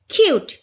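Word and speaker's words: cute: Next আছে ইউ কিউট, এটা হবে না, এটা সাইলেন্ট হবে, কেন, কারণ এই ওয়ার্ডটাতে দুটো ভাওয়েল আছে, প্রথম ভাওয়েলটার উচ্চারণ লং সাউন্ড হবে, ইউর লং সাউন্ড কি হবে, ইউর লং সাউন্ড ইউ হবে, আর ইটা কি হবে, সাইলেন্ট হয়ে যাবে, তাহলে ইউ কিউট।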